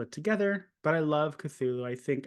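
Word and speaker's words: Cthulhu: together but I love cthulu I think and apparently cthulu isn't even like the correct pronunciation cthulu is supposed to be a un unpronouncable being we were just like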